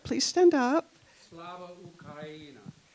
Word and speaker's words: Slava Ukraini: I want everybody to pronounce it right. Please stand up. Slava Ukraina. Slava Ukraina.